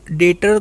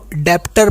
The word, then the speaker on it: debtor: हाँ, एक चीज़ और क्लियर करना चाहूँगा, बहुत से लोग ना डेटर को डेप्टर पढ़ते हैं। देखो यहाँ पर ना बी साइलेंट होता है, और बी साइलेंट कब होता है? जब बी के बाद अगर टी आ जाए। मैंने कहा बी के बाद जब टी आ जाए तो बी को साइलेंट होना पड़ता है।